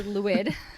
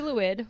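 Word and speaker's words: Lwyd: i didn't it's yeah it's spelled l l-w-y-d so i get why that's yeah yeah it's also welsh and so their vowels don't make the same noise as our vowels ain't that the truth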